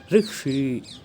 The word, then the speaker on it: ऋषि: ऋषि इसका सही उच्चारण नहीं है, इसका सही उच्चारण ऋषि।